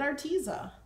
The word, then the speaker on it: Arteza: to say our teaser so I watched in our teaser video live one with a CEO in it she called it our teaser so I'm like Alex Alex it's our teaser